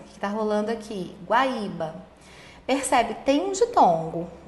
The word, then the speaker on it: Guaíba: Se o i e o u forem precedidos de ditongo crescente, o acento permanece. Então, acontece também em Guaíba e Guaíra, que está rolando aqui. Guaíba.